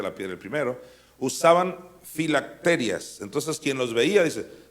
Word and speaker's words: filacterias: lo estoy leyendo bien lo estoy pronunciando bien filacterias no no tiene acento en la i y porque yo decía filaterías no sé pues ensanchan sus filacterias y que eran las